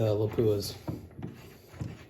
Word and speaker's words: Lapua: on the brass of the Lapuas, or Lapua, as it's correctly pronounced, I guess.